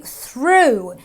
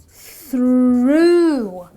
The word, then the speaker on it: through: Well, if I pronounce this word, I say through. And the AW in this word gives me the long, elongated oo sound. So I say through.